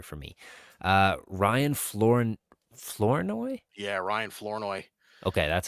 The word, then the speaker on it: Ryan Flournoy: Yeah, Ryan Flournoy.